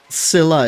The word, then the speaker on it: Scylla: This is like learning that Scylla is pronounced with a silent C in English all over again.